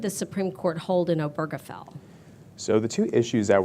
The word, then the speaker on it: Obergefell: the guy's name but I've actually heard him pronounce it himself and it is obergefell with a heart G so along comes obergefell